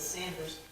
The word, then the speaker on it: Saunders: I'm Sanders' descendant, and it's spelled both ways, with the U-N without, and most of the family says Sanders.